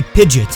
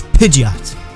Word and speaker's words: Pidgeot: For each entry, I will say the correct pronunciation first, and then describe the mispronunciations that I've heard. Now let's start with Pidgeot. Now I've heard people say Pidgeot, and I totally understand the mindset behind it